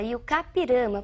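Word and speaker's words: I-Juca-Pirama: E a pronúncia é realmente essa, Iucapirama, porque é um termo de origem indígena. Nós escrevemos Ijucapirama, mas pronunciamos Iucá, que significa aquele que vai morrer.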